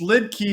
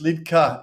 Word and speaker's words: Liedtke: one he is and I believe it's pronounced is that right it's lid key in America but it's lit cut in in German okay cool um I I